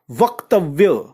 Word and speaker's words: वक्तव्य: दूसरा शब्द लेते हैं वक्तव्य, वक, आधे क से पहले व है तो उसको व के साथ जोड़ा गया, वक, वक्तव्य।